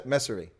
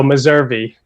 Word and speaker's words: Meservey: name even though he's told me how to pronounce it and i know it but it's josh mercer messa messari messer i've got it wrong josh how's it